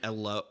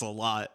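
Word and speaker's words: Elloe: the the combat started alo alo alo or something like that it's e l l o e so I always just said L then that's what we'll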